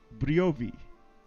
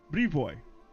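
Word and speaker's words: Brevoy: to rule barrage says in my opinion it is pronounced probably briovi Bri boy all right thank you for that correction Brie boy I'm gonna say you're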